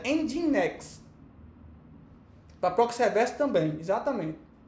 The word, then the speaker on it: Nginx: Se pronuncia Nginx.